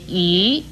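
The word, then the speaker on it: 舁: 与壁字相似的则有这个鱼字，鱼字的国语注音是鱼，二声鱼。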